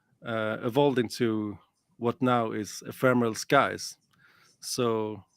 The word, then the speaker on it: Ephemeral Skies: I need to Ephemeral pronounce it good. Skies. Ephemeral Skies.